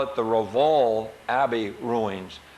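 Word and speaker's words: Rievaulx: of James Harriet uh I call it the Ral Abbey ruins it's spelled r i e v a u l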